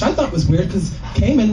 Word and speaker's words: Cayman: thought was weird cuz Cayman rhymes with gay men duh so we get